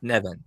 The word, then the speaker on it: Nevin: Nevin. Okay. Yeah. Rhymes with Nevin heaven. and what? Rhymes with heaven. Oh, I see. Well, I'm assuming that was intentional. It's actually Gaelic, a Gaelic name that means heaven.